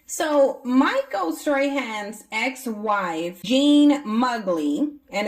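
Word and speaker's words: Muggli: So Michael Strahan's ex-wife, Jean Mugley, and it's interesting that that would be her last name considering how she looks. Mugley rhymes with ugly.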